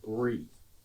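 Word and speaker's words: Bruys: Another who is much more extreme is a man named Peter Brie. Not B R I E like the G's. B R Us.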